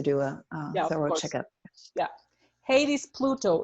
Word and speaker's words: Hades: In English, it's pronounced Hades for anybody who wants to do a thorough checkup. Yeah, Hades, Pluto.